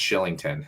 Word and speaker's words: Kylington: scottish name um and it's spelt kylington um but it's pronounced shillington for whatever reason right and it's if